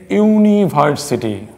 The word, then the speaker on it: university: and unique position here you will see the existence of you II and you they're basically vowels but their pronunciation is not the vowel here because you are pronouncing at University European and unique that is you we